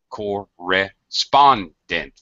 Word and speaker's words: correspondent: most of the stress correspondent correspondent has four syllables totally in the third syllable gets the stress environmentally all right fourth